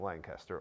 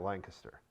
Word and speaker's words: Lancaster: Well, there's some people call it Lancaster, and I go, well, it's spelled with A's, so I don't know why you're calling it Lancaster, but it's Lancaster if you look at it.